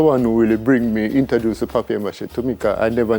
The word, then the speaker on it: papier-mâché: What will you pronounce it? Paper mache? I said papier mache.